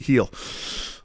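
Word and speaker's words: Gil: Yankees at Milwaukee Brewers we're in back Luis heel here over six and a half strikeouts Yankees it's spelled g that's where you found it that's where you're going to find it but it's pronounced heel at least six strikeouts every start this season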